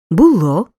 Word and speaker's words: було: бути у минулому часі наголос падає на останній склад була було були Зате в майбутньому часі на